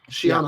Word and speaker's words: Cheyenne: How's it pronounced? Shianah? Shianah. Yeah.